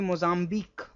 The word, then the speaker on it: Mozambique: This q u e is always pronounced as c the pitch rusk. Similarly mozzambi or antique you remember this right antique.